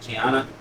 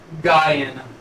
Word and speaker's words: Guyana: But you said so basically like the whole lineage is from is it Gianna? Guyana. Guyana. Guyana. Guyana. How you spell that?